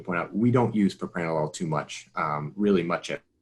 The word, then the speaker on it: propranolol: is wondering about uh propanology am i pronouncing that correctly yeah propranolol um so it's more responsive